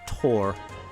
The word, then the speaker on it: Thor: Just like I'm not saying my name is Tor, even though that's technically the correct pronunciation for my name.